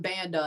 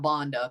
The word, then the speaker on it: Banda: Now, that's something Buck would definitely do, call him Banda instead of Bonda, because that's just Buck, you know.